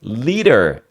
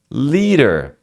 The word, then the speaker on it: lead: Então, por isso que a pessoa que é um líder, ele é um leader. I'm a leader.